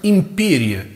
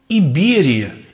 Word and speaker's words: империя: свидетелями огромного количества слов, которые произносится сейчас по буквам, как империя, император, имперский. Вот это МП, МП, МП, которое сдвоенное звучание нам дает, оно обозначает на самом деле звук Б. И читать нужно Иберия, Иберский, Императорский.